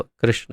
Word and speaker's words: कृष्ण: और श और ण है, न नहीं है। तो कृष्णा नहीं है, कृष्ण है, कृष्ण। तो कृष्ण ये उसका वास्तविक उच्चारण है।